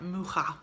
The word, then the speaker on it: Mucha: So it's pronounced like Mucha or something like that.